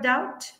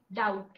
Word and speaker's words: doubt: doubt say the word doubt doubt doubt so the B is silent there right so there are